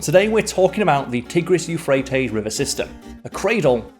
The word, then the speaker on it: Tigris: Euphrates river system and over here in the west it's sometimes pronounced The Tigress but in Syria and Iraq and those regions of the world they prounce it the tigis so that's the pronunciation